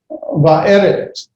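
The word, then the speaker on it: ועבד: Will be pronounced like a very short, quick a va. So it's va'evet. Excuse me. This is not eretz. This is va'evet.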